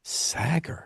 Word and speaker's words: Sagger: And be honest, Sodger So Creshi. more swagger without a W is what I tell people. Swagger. Sagger.